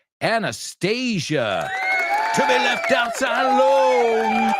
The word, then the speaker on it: Anastasia: Just be careful you don't pronounce it anesthesia. So, the Russian one, quédate. Anastasia.